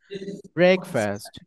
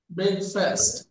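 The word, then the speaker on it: breakfast: দেন ব্রেকফাস্ট ইয়ে good ব্রেকফাস্ট নট ফাস্ট ব্রেকফাস্ট ব্রেকফাস্ট yes good এরপরে এটা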